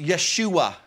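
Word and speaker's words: ישוע: another Joshua you see the Hebrew word Joshua is pronounced Yeshua and in the Latin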